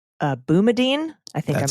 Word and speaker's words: Boumediene: But while the ACLU cites a case called Boumediene, I think I'm pronouncing that right.